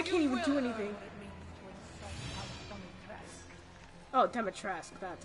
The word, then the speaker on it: Dimitrescu: Oh, Demetresque, that's how it's pronounced.